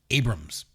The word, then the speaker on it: Abrahams: I can understand why people would say Abrahams, but I've always heard it pronounced Abrams.